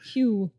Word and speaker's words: Hugh: Hugh. Hugh rhymes with pew.